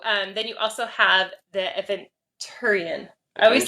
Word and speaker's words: Aventurine: I always call it adventure. Yeah. But there's no D. It's like Aventurine, I think is how you say it.